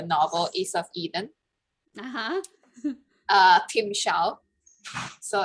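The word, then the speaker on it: timshel: is of eden uh tim xiao so it's a word from the bible that was mentioned in the book is of eden uh tim xiao is the pronunciation of a hebrew word from the fourth chapter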